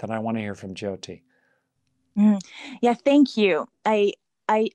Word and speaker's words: Jyoti: you so much hey hannah thank you okay jyoti has to unmute great you're unmuted and am i pronouncing your name correctly how do you say it it's uh jyoti good okay pretty close yeah pretty close okay